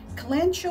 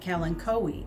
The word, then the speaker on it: Kalanchoe: kalanchoe or kalinkowi how is it pronounced well it depends on where you live i pronounce it calen cowy and today i'm going